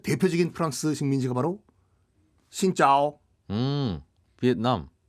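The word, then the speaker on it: Việt Nam: 비엔남. 역시 발음을 정확하게 하시네요. 네, 우리나라 말로는 베트남. 그것도 짚어드리면 전 세계적으로 비엔남을 베트남으로 발음하는 나라가 우리나라랑 일본밖에 없거든요.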